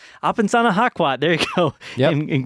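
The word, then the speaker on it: Apesanahkwat: I cannot pronounce his name. Apensana Hakwat. It's Apensana Hakwat.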